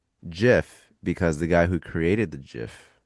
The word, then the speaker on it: GIF: Like the Jif peanut is butter.